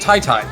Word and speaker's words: TyTy: told that apparently TyTy his name is pronounced Tai Tai which my brain I